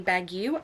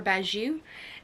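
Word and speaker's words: Bagieu: this one is by Penelope Baguio I believe is how you say her name or baju and she did you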